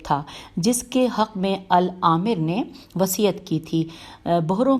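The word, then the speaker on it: الآمر بأحکام اللہ: گیا۔ اس کے بعد العامر باحکام اللہ 495 میں ہجے کر دیتی ہوں۔ العامر الف لام الف مد آ میم رے بے الف ہے کاف الف میم باحکام اللہ اور پھر اللہ ہے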